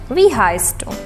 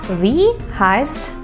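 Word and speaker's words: wie heißt: is v heist do we heist heisen is to be called v like an long e and tree heist like s and soda we heist do and the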